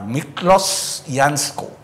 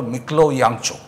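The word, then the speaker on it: Miklós Jancsó: আর মিকলস ইয়ানস্কো, পরে শুনলাম তার উচ্চারণটা হলো মিকলো ইয়াংচো, হাঙ্গেরিয়ান।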